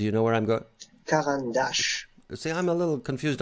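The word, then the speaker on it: Caran d'Ache: on the Caran, but it's Caran dash. I always say dash. Dash is okay. Okay. Yeah, dash. Brian, you want to try? Let's good. Have a little language class here. How do you say the name of this company, Brian? I would have said it Caran dash. But it's more like a Caran dash with a little accent.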